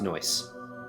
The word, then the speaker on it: NOICE: occult investigative collaborative ensemble nice man but it's pronounced noise no noise noise yeah